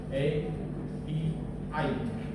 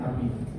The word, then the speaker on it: API: ada namanya istilahnya api A B I bukan ya api bacanya api itu kayak pintu berubah supaya kita bisa mengakses data di media sosial.